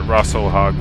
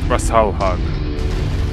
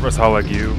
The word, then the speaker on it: Rasalhague: I got to remember to pronounce it Russell hog from now on Russell hog Russell hog that's what it is rasal hog not rasalu rasal hog R all hug